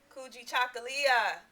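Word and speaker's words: Kujichagulia: Now then you would light the second candle which is self-determination and we say coogi chocoly cooji chocolia and that was fun to say.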